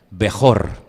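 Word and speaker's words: בכור: ustedes en la pantalla bejor y hay una palabra que suena muy parecida que es beraja bejor beraja bejor es primogénito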